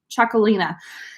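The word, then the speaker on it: Txakolina: and it's very confusing to pronounce that it's pronounced jacquelina like chocolate but choco Lina and the grapes are Hungary B belt saw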